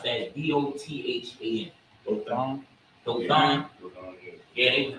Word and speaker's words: Dothan: Donoth. Donathan. How you pronounce that? Dothan.